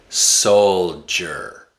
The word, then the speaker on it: soldier: Soldier.